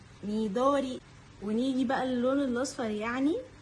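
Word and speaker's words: 緑: اك نيجي بقى للون الاخضر اللون الاخضر يعني ميدوري ميدوري ونيجي بقى للون الاصفر يعني كيرا كيرا ممكن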